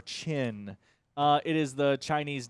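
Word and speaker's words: Qin: is ranked 1807 and i believe it is pronounced shin or chin uh it is the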